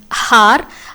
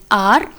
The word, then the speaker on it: hour: So, honest and har are wrong pronunciation. We actually have H as silent in both the words. So, it is pronounced as honest and are.